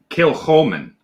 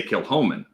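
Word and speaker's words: Kilchoman: traditionally it would be kill holmen kill holmen because you pronounce it as a guttural but for whatever reason they always pronounce it without the guttural so they say kill homan um kind of like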